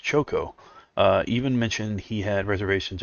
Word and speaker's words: Chaco: Also known as Chaco, pronounced Choco, even mentioned he had reservations about making Cosmos' manga-style proportions.